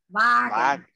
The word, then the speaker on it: Wagen: Wagen.